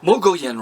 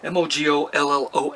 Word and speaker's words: Mogollon: Michael in a room Mogo en rim I got corrected I'm a pronunciation mo gol ello and Mogollon Rim is